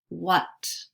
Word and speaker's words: what: What. Notice what has the schwa sound. It's spelled with an A, but sounds like short U.